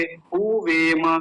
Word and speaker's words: हुवेम: और मैंने एक बात बताई थी, हुवेम लंबा नहीं खींचेंगे, हुवेम गलत उच्चारण है। क्यों? क्योंकि यहाँ पर छोटा ऊ है, छोटा ऊ जल्दी बोला जाता है, हुवेम।